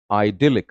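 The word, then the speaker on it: idyllic: अगला बहुत ही प्यारा सा शब्द है आइडिलिक. Grammatical profile is adjective. And pronunciation पे भी ध्यान देंगे. दिल पे आवाज का स्ट्रेस ज्यादा आएगा आपके.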